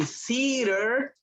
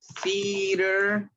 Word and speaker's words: theater: Pronuncien theater. Que es theater. Teatro, ¿verdad? Es que nosotros no tenemos la C naturalmente. Así que sería theater. En fin. Theater. Bueno, es C. Usa tus dientes como si fueras a decir una S, pero muy suave.